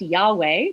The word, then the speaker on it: Yahweh: And scholarly consensus argues that it should probably be pronounced Yahweh, though I'll explain shortly why we're not exactly sure how it used to be pronounced.